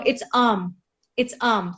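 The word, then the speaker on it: ॐ: तो आर्म is basically the 3 primordial sounds, इसी से सारी और साउंड्स निकली है, from uh, then you गो ओ ई, it's like that, है ना?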